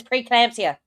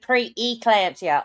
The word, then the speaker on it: pre-eclampsia: even without language, Yeah, she always says preeclampsia instead of pre-eclampsia. Oh my god, it drives me nuts. She always, like, eclampsia is the disease. Pre-eclampsia. You've got to pronounce that E, Laura.